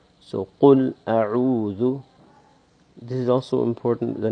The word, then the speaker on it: أَعُوذُ: and the Dhal, Dhu, to make sure that we don't say Au, or that we don't say Zu, Auzu, Auzu, A'uzu. These are all wrong pronunciations. So A'udhu, A'udhu.